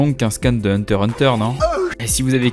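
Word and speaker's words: Hunter × Hunter: ce que c'est et vous noterez bien que je dis hunter hunter est pas un hunter x hunter tu désolé moi les gars c'est ça la prononciation japonaise japonais battu veut dire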